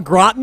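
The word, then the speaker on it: au gratin: still don't know how to say it all Groton am I getting that rightly you got it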